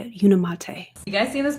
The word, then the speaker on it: Unimate: and balance Ah that's how you say it unimate you guys see in this picture right here